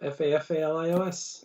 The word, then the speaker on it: Fafalios: Spell that for everybody. Fafalios. I'm glad I would have been like Fafalios. Fafalios. It's a good rhythm the way you did it. Yep, Fafalios.